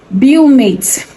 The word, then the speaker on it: Beaumate: So first on my list is Bumate. It's spelled Beaumate. I love Bumate so much because it comes in double drawn and also comes in super double drawn.